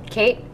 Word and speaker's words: Kate: Kate, short for Catherine, rhymes with plate.